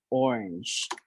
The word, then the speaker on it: orange: orange. So it's orange, one syllable only.